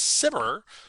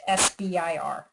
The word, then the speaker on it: SBIR: just learned I said it incorrectly I always pronounce this as cimber but Dusty how should we all be pronouncing